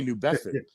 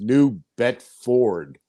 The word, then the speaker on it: New Bedford: Well, no, I say New Bedford. That's how we say it up here, New Bedford. But it's properly pronounced New Bedford. There's an R in there, which we don't really.